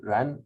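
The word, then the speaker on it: 人: So the left hand element here is pronounced the same, Ren, but it means human being.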